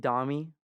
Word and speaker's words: Dami: through music so yeah domi pronounced domi d-a-m-i um comes from my name